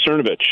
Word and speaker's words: Cernovich: Sernovic. Oh, yeah. Mike Cernovich.